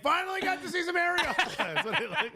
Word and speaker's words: Arriola: It's Arriola. That's my man. Yeah. I'm just like, finally got to see some Arriola."